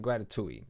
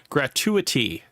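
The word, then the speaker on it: gratuity: throw in a 25% gratitouille. It almost feels all right. Gratui. Um, gratitouille for the ratatouille. When I heard this, I was like, gratuitity. Gratuitity. That is how you pronounce it.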